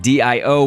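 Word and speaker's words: D-O: as d o uh it's like d IO but it's spelled D- o or a zero I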